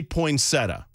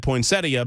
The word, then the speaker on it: poinsettia: yeah it looks great most people say poinsetta yeah but I've always said poinsettia because there's an extra I in there that no one pronounces and it's not silent